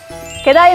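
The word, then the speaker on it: G'day: 게다이 마잇, how you going? 마치 게다이라고 들리시죠? 굿데이라는 뜻인데요. 발음만 들으면 마치 게다이 같죠?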